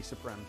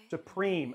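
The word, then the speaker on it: Suprim: We have Supreme. Oh, it's Supreme. Okay. MSI wants me to say Supreme.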